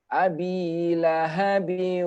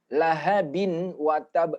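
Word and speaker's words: لَهَبٍ وَتَبَّ: ketemu dengan huruf wow tanwin ketemu wow maka bacanya abilahabi Ungu lahabiw uh ah jadi ada dukung lihat di atas Wow di atas Wow ini tidak ada tanda tasydid tidak ada tanda tasjid Tapi karena kita mengerti bahwasanya apabila tanwin bertemu dengan wow maka hukumnya adalah Idgham Bighunnah otomatis kita langsung akan memasukkan Abi lahabiw Ungu wacab Jadi enggak boleh lagi bacanya Abby lahabin lahabin watab salah kalau dibaca lahabin berarti dia mengilhamkan tidak boleh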